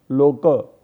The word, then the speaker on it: लोक: ये देखो, ये लोक ऐसा जो है ना, तो इसको मराठी में पढ़ते प्रोनाउंसिएशन करते समय लोक ऐसा पढ़ना है। लोक ये भी होता है, लेकिन मराठी में प्रोनाउंसिएशन है लोक।